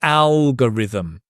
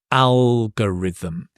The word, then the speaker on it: algorithm: We can talk about the algorithm. So again, notice the stress on the algorithm. And this is a g, not go, but g. Algorithm.